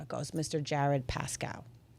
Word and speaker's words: Jared: You definitely New York and Philadelphia and Jersey all say my name the same. It's Jared. Jared. And I don't hear it. Jared. Jared. It's Jared. Jared. To me it sounds like Jurid.